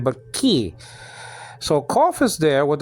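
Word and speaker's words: כי: So just say ki. That's all. Especially the yod after it is acting like a vowel. So in those circumstances, it's really E. It's like a long I sound.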